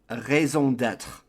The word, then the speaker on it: raison d'être: I don't know how Americans or English speakers would say this, but in French it's raison d'être, meaning your reason or purpose of existing.